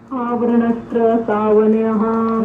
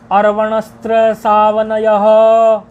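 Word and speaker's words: अर्वणस्त्रसावनञः: आवरणस्त्र सावनयः। नहीं, आवरण नहीं, अर्वणस्त्र सावनयः। अर है।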